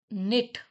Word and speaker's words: knit: Knit. KNIT knit. Knit का मतलब होता है बुनाई करना, ऊन से बुनना, स्वेटर्स बुनना. तो वी यूज knit. तो K यहाँ पे साइलेंट रहता है.